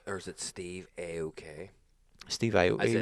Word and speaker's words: Aoki: Steve Aoki hitting someone.